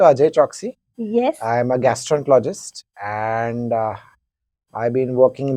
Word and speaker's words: gastroenterologist: गैस्ट्रोलॉजिस्ट ही बोलते हैं। हाँ, It is gastroenterologist.